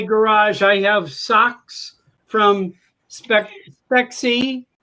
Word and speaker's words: Spexi: have in my garage, I have socks from Spexi, right? Now I'm saying it right? Yep, Spexi, I got it. Spexi, okay.